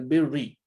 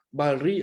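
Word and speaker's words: البر: Wa ta'awanu 'alal birri wat taqwa, bukannya barri ataupun burri.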